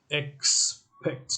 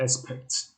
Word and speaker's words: expect: i drew a picture expect not aspect aspect is not correct expect similarly 11 expected expected